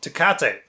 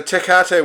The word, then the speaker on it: Tecate: I would say this is called Tecate. It's a Mexican beer, but other people around the world might pronounce that name differently. What do you think? Tecate? Tecate? Yeah. It could even be a... No, it's definitely a hard C, isn't it?